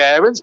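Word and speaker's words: Aarons: laugh about don howe max aaron's to give him his proper pronunciation well i'll try and say errands but it's very hard to kick in habit of a lifetime it's pushed down raheem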